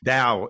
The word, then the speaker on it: Tao: quote of the day Dow is spelled Tao thank you for that